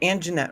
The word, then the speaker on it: Anjanette: I'm saying it right, Anjanette, right?